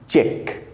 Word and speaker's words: cheque: दोनों ही word चेक हैं, चेक, CHECK चेक एंड CHEQUE चेक। दोनों का प्रोनाउंसिएशन बिल्कुल सेम है।